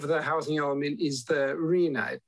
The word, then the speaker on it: RHNA: housing element is the arena pronounced it's rhna but it's pronounced Arena and it's a target